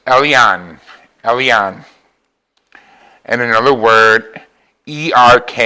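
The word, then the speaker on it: El Elyon: It's Elion. Elion. And another word, E-R-K-A-M-K-A. And that word I'm having a hard time pronouncing.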